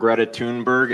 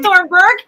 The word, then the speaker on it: Thunberg: You have He said Thornburg. Yeah, he said Thunberg. He said it right.